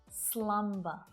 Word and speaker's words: slumber: Listen carefully to hear the B sound as I say these words. amber, clamber, slumber.